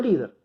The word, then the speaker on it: líder: Siempre la tilde va a ir sobre la vocal y en la sílaba que determina si es aguda, grave o esdrújula. Lo mismo sucede con líder.